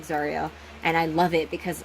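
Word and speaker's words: Tsaril: I also invented a name, Zariel, but like T-S-A-R-I-L, but like pronounced like Zariel.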